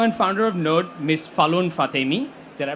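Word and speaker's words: Falon Fatemi: Falun Fatemi. Did I pronounce that right?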